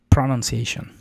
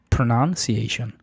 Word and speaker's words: pronunciation: en YouTube, que dicen que dicen eh pronunciation, pronunciation, pero no es pronunciation. pronunciation. Pronoun porque la primer sílaba es una sh pronoun y luego si a es la siguiente sílaba tónica. E y luego y luego sh pronunciation.